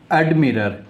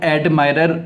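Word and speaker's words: admirer: उसके बाद में नेक्स्ट शब्द हमारे पास में है एडमिरर। इसको हम अधिकतर लोग एडमायरर करते हैं, लेकिन इसका जो सही उच्चारण आता है एडमिरर, इसको हम बोलते हैं।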